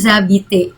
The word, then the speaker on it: habitez: Ya, seperti halnya appeler tadi, Z-nya nggak dibaca, tapi E-nya jadi terbuka, appeler. Demikian juga dengan habiter, habiter, ya. Vous habitez où?